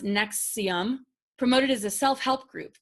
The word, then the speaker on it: NXIVM: Prosecutors allege that Mack was involved in the scheme with Keith Raniere, the leader of NXIVM, pronounced Nexium, promoted as a self-help group.